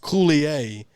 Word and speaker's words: Coulier: of his name and it's pronounced coulier but you spell it c-o-u-l-i-e-r yeah